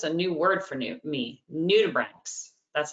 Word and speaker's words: nudibranchs: So that's just a new word for me, nudibranchs. That's how you say it, nudibranchs.